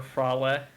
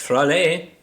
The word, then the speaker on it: Fraley: Or Frale. However this town is pronounced. It's Fraley.